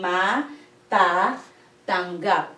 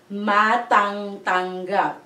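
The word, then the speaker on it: matatanggap: So, it will become ma-ta-tanggap. Not ma-tang-tanggap. No. So, it's just the first two letters.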